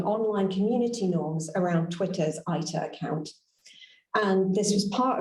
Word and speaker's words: AITA: So to introduce you to the idea of this AITA, or ITA, as we're going to be pronouncing it during this talk.